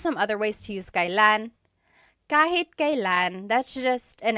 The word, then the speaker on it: kailan: Kailan nangyari yun? Nangyari means happened, and then yun means that. Kailan nangyari yun? And then just a pronunciation tip, it's pronounced kailan, kailan, but you will often hear it pronounced kailan, kailan.